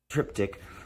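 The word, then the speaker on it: triptych: dick tip what are you talking about bro trip tick but uh yeah this one's really cool I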